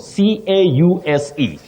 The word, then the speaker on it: cause: But then, chanzo, chanzo, C-A-U-S-E, chanzo chakitu, you say cause with a voiced sound, Z. Cause, the cause of that fire, but the cause of study.